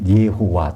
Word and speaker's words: 여호와: 여호와라는 이름은 적어도 뜻은 몰랐지만 발음은 할 수 있으니까 발음도 이제 여호와는 정확히 말하면 예호와 또는 야훼가 되겠지만요.